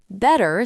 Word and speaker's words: better: Better sounds like better. The T becomes soft like a D sound. This is called the flap t.